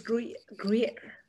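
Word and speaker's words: Gruyère: So Anjali, how do you pronounce this type of cheese again? Is it Gruyere? It is Gruyere.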